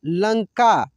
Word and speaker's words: लंका: देखिए, जैसे यहाँ पे ये लिखा है लंका, लंका, ठीक है। तो यहाँ पे इस बिंदी का उच्चारण लंग, देखिए लंग, लंग यानी न के रूप में हो रहा है, ठीक है ना।